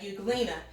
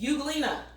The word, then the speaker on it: euglena: Say euglena. Yeah, like that's sort of weird because you think it would say euglena. You wouldn't hear the U or euglena, but it says euglena and the E is silent.